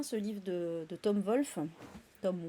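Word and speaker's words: Wolfe: livre de de Tom Wolf Tom Wolf d'ailleurs je suis plutôt le W en général en en anglais il se prononce plus il se prononce pas avec un comme un V euh donc là dans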